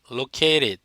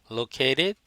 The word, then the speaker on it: located: located, T 발음 R로 바꾸고 몸 사이에서 center, N 다음에 T 생략해서 center, located, center 이렇게 발음한 거 기억하시고요.